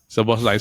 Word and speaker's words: Szoboszlai: Is it how I pronounce it? Szoboszlai. Yeah. Szoboszlai.